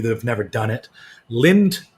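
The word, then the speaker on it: Lindt: have never done it lind lint the chocolate company also the d silent they make a uh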